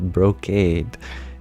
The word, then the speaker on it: brocade: Jenny, you share the pronunciation is brocade.